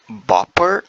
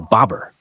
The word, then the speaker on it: bobber: to bite great job Boer like b o p p e r Boer not quite it's spelled booby e r bobber easy to confuse but now you've got it oh I see